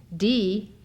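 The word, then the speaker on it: dhīḥ: D, which is spelled D-H-I-H, but is pronounced D-E-E, is the bija, or seed syllable, of Manjushri.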